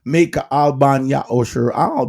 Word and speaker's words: Maycha'al ban Ya'osher: That's why you hear me call myself Maycha'al ban Ya'osher, because that is how my name is pronounced in our Hebrew tongue.